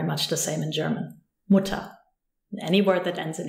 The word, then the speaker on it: Mutter: For example, if you use the word Mutter, Mutter has an E-R, but the emphasis is on the U, Mutter. You cannot hear the R at all.